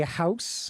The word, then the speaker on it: HOSS: And with the hype asset use service, HOSS, is that how you say it? HOSS? We you guys say We like to say house. House, okay. HOSS is is acceptable though.